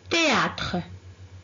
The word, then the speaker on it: théâtre: ensuite suivi suivi encore théâtre théâtre être le tournant lettre h théâtre encore très bien par mac ici on prononce pas la lettre h heure on ne prononce